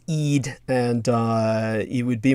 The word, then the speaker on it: Eid: people understand it uh for the pronunciation of Eid that's Eid and uh it would